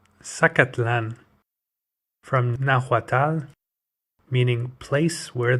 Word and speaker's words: Zacatlán: Zacatlan, pronounced Zacatlán, from Nahuatl, meaning place